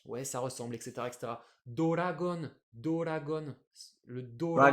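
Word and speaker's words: ドラゴン: Doragon, Doragon. Le Dora, Dragon ouais, c'est peut-être Ball!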